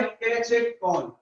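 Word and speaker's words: catechol: ये होता है कैचेकॉल या कैचेकॉल, कुछ भी बोल सकते हो।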